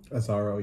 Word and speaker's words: Azzaro: azaro yeah did they say his name right azaro yeah okay so i tried this fragrance on